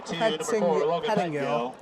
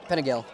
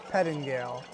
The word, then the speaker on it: Pettingale: Pettingale. Pentagill. Pettingale. It's kind of one of those names where you just pronounce the T's and D's.